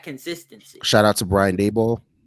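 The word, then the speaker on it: Daboll: shout out to brian dayball am i saying that right dabble dabble i don't know i could be wrong too i thought it was the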